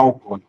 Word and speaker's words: alcoólico: As pessoas pronunciam alcoólico, alcoólico, marcando a sílaba tônica na pronúncia como có. Vamos separar alcoólico.